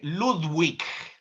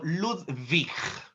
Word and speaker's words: Ludwig: En alemán no se dice, por ende, Walter, por ejemplo, sino Walter. No se dice Ludwig, sino Ludwig, ¿no?